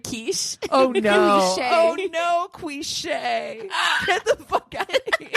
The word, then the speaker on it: quiche: that john morgan uh ordering cliche what instead of quiche oh no oh no